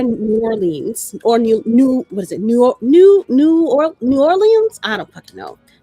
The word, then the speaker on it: New Orleans: in Victorian era, New Orleans or New Or New Orleans. I don't know how they say it down in New Orleans. I say it this New Orleans Norland.